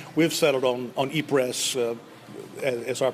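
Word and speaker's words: Ypres: We pronounce it eers. There's much controversy about the correct pronunciation of this city. Many would say it's more e prey with the French pronunciation.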